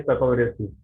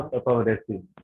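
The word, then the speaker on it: Papaveraceae: किसी एक फैमिली है पेपावरेसी, तो मैं इसको, जो मेरा प्रोनाउंसिएशन था वो था पेपावरेसी। टीचर आए मेरे, तो वो बोलते थे पापावरेसी, तो पहले बड़ा अचपटा लगा कि ये कैसा प्रोनाउंसिएशन है।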